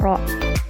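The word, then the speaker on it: rho: terus ada massa jenis dibacanya ini lambangnya rok ya bacanya rok terus satuannya itu kg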